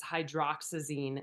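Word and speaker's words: hydroxyzine: Yes, sorry I kind of hauled through that slide and it's hydroxazine not hydraazine.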